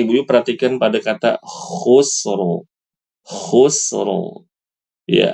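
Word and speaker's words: خسر: kata khusr khusro ya ada huruf k berharakat dah Sin dalam keadaan sukun ro ya harusnya dibaca khusrin ibu-ibunya ya khusrin ya tapi dia disukunkan ya karena memang karena waakaf ya J langsung baca khusro tebal lalu hur tebal hur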